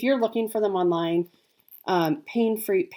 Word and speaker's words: Paine: If you're looking for them online, Pain is spelled Paine.